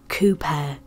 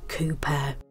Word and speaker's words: Cowper: known as emily clavering cooper it's spelled cowpor and some people do pronounce it this way but most people pronounce it cooper she was born the